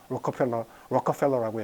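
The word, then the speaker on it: Rockefeller: 록펠러라고 하는 재벌 알죠, 그죠? 로커펠러라고 얘기를 미국식으로 발음하는데 어쨌든 이제 그런 기구들이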